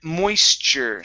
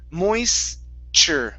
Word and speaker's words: moisture: And here we have the word moisture. So pronounce a C-H-E-R sound. Moisture.